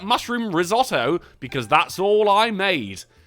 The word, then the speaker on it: risotto: you guys like mushroom risotto, because that's all I made. He's just got mushroom risotto for weeks. Good source of protein, though. And when you say risotto, you got to roll risotto.